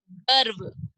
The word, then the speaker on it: गर्व: आगे देखते हैं हम, ग, व के ऊपर रेफ की मात्रा, कैसे पढ़ा जाएगा इसको, गर्व, र की ध्वनि कहाँ आ रही है, ग और व के बीच में आ रही है।